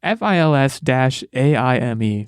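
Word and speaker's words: Fils-Aimé: It's Fils-Aime. Pronounce it whatever way you like.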